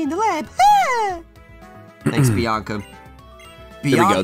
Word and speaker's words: Bianca: Bianca there we go. Rhymes with Willy Wonka. Willy Wonka rhymes with Tonka.